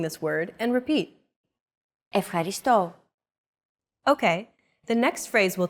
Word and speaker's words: ευχαριστώ: It's the accent mark, and it indicates that this syllable is stressed. A stressed syllable is pronounced slightly longer and at a higher pitch than the rest of the syllables in a word.